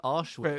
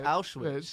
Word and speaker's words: Auschwitz: it wrong as well she's saying auschwitz it's awesome it's auschwitz yeah i think and and